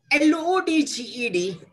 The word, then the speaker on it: lodged: L-O-D-G-E-D, lodged. J is voiced. It's followed by past tense maker D or ED. It's not pronounced as T, but it's pronounced as D. So, lodged.